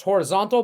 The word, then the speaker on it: horizontal: Notice it's pronounced horizontal, but take off the T-A-L and it's horizon, right?